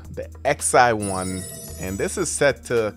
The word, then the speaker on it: XiOne: of comcast's new streaming box uh well it's pronounced xi1 but the spelling is going to be a